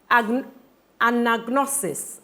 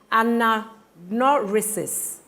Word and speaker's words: anagnorisis: Hubris, catharsis, anagnosis. Sorry, let me pronounce that again. Anagnorisis, juxtaposition.